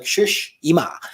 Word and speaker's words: Tsushima: So it's like Tsushima. So like Tsushima, I am the Ghost of Tsushima.